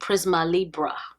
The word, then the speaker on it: Prisma Libre: decided yes I do i finally have figured out how to pronounce this this is the Givenchy Prisma Libre is how you say that glow Serum Foundation